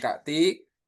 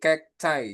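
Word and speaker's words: cacti: Nah, dibacanya bukan kakti ya. Cas. Heeh. Jadinya apa? Jadinya kek cai. Kek cek. Heeh. Jadinya itu kek cai, Teman-teman. Bukan Kak Tik, tapi kek chai. Jadinya kekay. Heeh.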